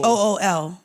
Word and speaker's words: bul: You spell it B-U-L, but it's not bull. BOOL.